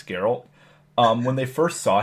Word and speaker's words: Geralt: is garol it's pronounced garel like that's how they pronounce it in the games so that's how I'm pronouncing it's Geralt um when they first